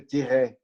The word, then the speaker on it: Tiret: Okay, Tiret is a French word, but also a Russian word. Actually, in French, say Tiret. You don't pronounce the last T.